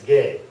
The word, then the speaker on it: G: as ours F and this one is gay yes I know gay that's the way it's pronounced all right so we